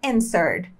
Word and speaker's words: answered: quer dizer responder e repare que a letra w é muda então a gente não fala and nem Ed né no passado aqui esse e final também é mudo tá então a gente